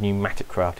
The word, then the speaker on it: PneumaticCraft: wrong while recording but it is called pneumatic craft even though it's spelt with a P so that's how you